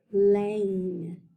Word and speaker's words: lane: Look at the word lane. Do you hear a long vowel sound? A long A or a long I? Lane. A. I hear A say its name. So that super silent E was definitely doing its job.